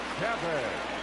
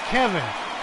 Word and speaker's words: Cavan: Now back, second baseman, Kevin. Oh, Kevin, like Kevin. Kevin Biggio. His name's Kevin, but it's spelled Cavan.